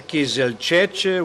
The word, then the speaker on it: Kizilcec: I've just talked to René on how to pronounce his last name, Kizilcec, with the accent on the last syllable.